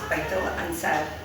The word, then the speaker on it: Baitul Ansaar: How do you pronounce it right? It's Baitul Ansaar.